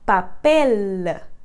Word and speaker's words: papel: ciele mais exagerado é imaginar que tem um a minúsculo depois de ciele então seria algo como papela papel então esse sonzinho no final você não precisa soltar mas isso pode te ajudar aí a cada vez melhor essa forma de pronunciar o l mais exagerado mais prolongado com a pontinha da sua língua encostando lá no céu da sua boca aí uma coisa muito importante